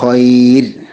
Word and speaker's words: خير: മിൻ ഇൻദില്ലാഹി ഖൈർ, ഖൈർ എന്ന വാക്കിൽ നിർത്തുമ്പോൾ റാഇന് തർക്കീഖാണ് കൊടുക്കേണ്ടത്. റാഇനെ രാ എന്ന ശബ്ദമാക്കി മാറ്റേണ്ടതാണ്.